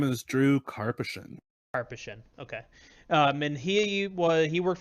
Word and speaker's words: Karpyshyn: His name is Drew Karpyshyn.